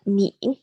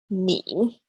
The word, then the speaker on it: 你: Next up, we have 你. Again, this is in the third tone, so your voice dips down and then comes back up again. 你. 你.